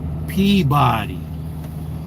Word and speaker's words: Peabody: Peabody.